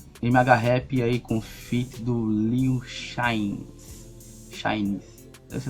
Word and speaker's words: Lil Chainz: MHRap aí com feat do Liu Shines, essa é a pronúncia.